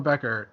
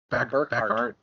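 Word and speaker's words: Berkhart: Okay, Daniel Beckert has Sinister Syndicate team ability. Can't even pronounce the last Scientist. name right. Burkhardt.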